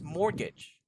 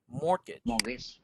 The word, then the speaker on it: mortgage: to read this okay it's pronounced like this mortgage mortgage mort and engage mortgage yes very good and